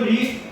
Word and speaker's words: ऋ: लेकिन जब हम उच्चारण करते हैं ऋ का जब हम उच्चारण करते हैं तो री का क्या होती है?